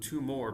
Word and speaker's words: tumor: Tumor, you say we mean tumor like no two more because it's it's spelled the same way but you think about rubor calor tumor dore.